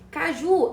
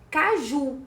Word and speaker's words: caju: Caju é uma oxítona, porque a última sílaba é tônica. A gente fala caju e não caju.